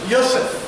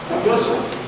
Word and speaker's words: Yosef: Não existe José. Pronúncia correta, Yosef. Yosef.